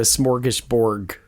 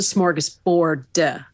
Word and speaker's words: smorgasbord: I don't think you you don't seem to think I'm pronouncing that correctly no it's it's a smorgus Bor with a d Bor I see I thought it was Borg like a like a a borg like a robot or whatever it's not